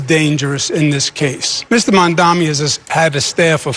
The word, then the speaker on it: Mamdani: And furthermore, the name is Mamdani. Mamdani. You should learn how to say it because we got to get it right.